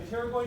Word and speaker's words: pterygoid: been here we going the P is silent period we didn't I